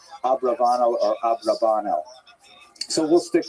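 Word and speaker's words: Abravanel: I should mention by the way many people pronounce the same H abarbanel and that's because of the uh it's much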